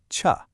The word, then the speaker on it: 處: In Korean, it's pronounced cha, and it means place or location.